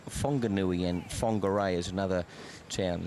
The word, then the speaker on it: Whanganui: That WH in New Zealand, in actual fact, they pronounce it Whanganui, and Whangarei is another town.